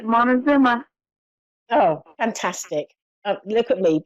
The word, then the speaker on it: Montezuma: Have I pronounced the place correctly? Montezuma, is that correct? Yes, you got it right. That's it, Montezuma.